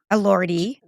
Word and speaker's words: Elordi: Elordi. Just to correct the pronunciation.